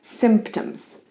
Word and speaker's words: symptoms: Diseases have symptoms. Symptoms. In singular, symptom. Symptom. Sometimes P is quiet, so it's symptoms.